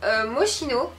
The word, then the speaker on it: Moschino: Moi je préfère dire Moschino parce que c'est un CHC, donc c'est SCH pardon, donc voilà.